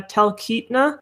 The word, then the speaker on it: Talkeetna: so I'm going to mispronounce this, and I apologize in advance. Talkeetna? Yeah, Talkeetna.